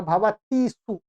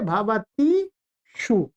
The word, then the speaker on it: भवतीषु: मूर्धन्य आएगा, भवतीषु। ठीक है, यहाँ ध्यान से, ये यहाँ पे ये टाइपिंग गलत हुआ है। जो क्या है ये? भवतीषु।